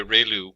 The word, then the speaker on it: ReLU: we have the ReLU, it's pronounced like ray, the ray from the sun, and lu, like a name, so ReLU function.